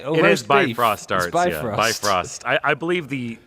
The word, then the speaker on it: Bifrost: say always babe roster by Frost I believe the the original Norwegian word in the dialect you would say be frost but we'd like for